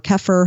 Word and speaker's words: kefir: So whether it's a little bit of sauerkraut or pickles or kimchi, like you mentioned, a little kefir or kefir, however you want to pronounce it, a little bit of yogurt.